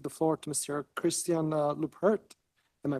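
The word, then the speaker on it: Leuprecht: Christian Lupert. Am I pronouncing it right?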